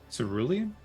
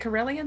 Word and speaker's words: cerulean: it is they're bluish should look up how it's pronounced cerulean yeah that's it cerulean bad okay okay brilliant something very different i was like corellian they're from space they